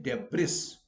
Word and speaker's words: debris: removing the debris, but we don't only say debris. No, it is debris. It is important to remember that in such words, S is silent.